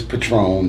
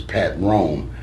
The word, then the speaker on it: Patron: And if you break it into 2 syllables, Patron, the liquor, is Pat Ron. Mine's is Pat Rome.